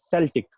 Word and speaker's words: Celtic: When they invaded Britain, at that time, the language which was spoken in Britain was Celtic language. Some people pronounce it as Celtic, but I prefer to call it Celtic language.